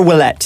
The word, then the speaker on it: Ouellet: How do you pronounce that? Technically. Xavier Willett.